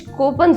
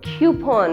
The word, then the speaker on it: coupon: हमारे पास कभी कुछ कोपन्स होते हैं. कोपन्स. कभी आपने कोपन्स के बारे में सुना है? बट इस वर्ड की प्रोनाउंसिएशन जो है वो क्यूपॉन होती है.